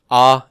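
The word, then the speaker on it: α: Now, in terms of pronunciation, I pronounce both of these pretty much the same, ah and ah.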